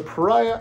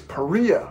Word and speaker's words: Perea: outdoor products pariah whoa no it's perea i found out i've been saying it wrong sorry peria i almost said pariah sorry priya i've been saying your name wrong in several other videos sorry about that peria not pariah i'm probably going to